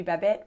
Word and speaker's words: Babet: So, Babette, which is spelled babe with a T.